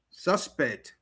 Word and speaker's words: suspect: Noun version, stress on the first syllable. Verb version, stress on the second syllable.